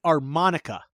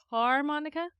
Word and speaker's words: armonica: invented more hold on so the armonica not the har Monica not the harmonica no I said it right the arm Monica not the same thing what the heck is